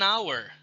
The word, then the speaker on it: hour: Kemudian before silent h ya, dengan kata h dengan huruf h ya, sorry. For example, an honest man, an hour, ya, honorable. Ya, jadi h-nya itu disebut tidak disebut ya, silent.